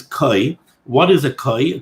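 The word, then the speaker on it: כוי: Some people pronounce this Kvi or Kevi. I think the proper pronunciation is Koi.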